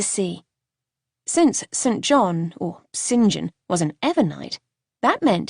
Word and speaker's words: Saint John: glared down at her first off it's not saint john it's pronounced sinjin why on earth would